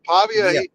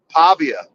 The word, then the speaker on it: Pavia: you know you got to take him serious Pavia he's gonna battle man he's got what it